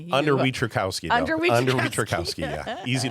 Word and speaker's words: Wietrzykowski: Wieczorkowski. I Okay. Wieczorkowski. So, it's like it's spelled.